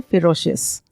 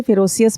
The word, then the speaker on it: ferocious: पहला शब्द है खूंखार, जो हम पहले शायद कर चुके हैं, जिसका अर्थ है फेरोशियस। प्रोनाउंसिएशन पर भी ध्यान दीजिएगा। कई लोग इसे फेरोसियस बोलते हैं। इट्स नॉट फेरोसियस, इट्स फेरोशियस।